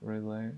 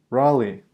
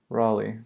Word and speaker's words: Raleigh: you say that rel a little a bit relay relay really I just say this why can't I just want to know how to say it Raleigh haha nice okay I know things Raleigh there we go sorry about that so yeah